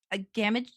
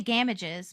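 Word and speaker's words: Gamages: I want to say games, but that sounds awful and I don't think that's how you say it because I'm not British.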